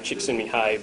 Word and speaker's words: Csikszentmihalyi: Come to find out, that's how you pronounce his name, Csikszentmihalyi, but I'm just going to call him Dr.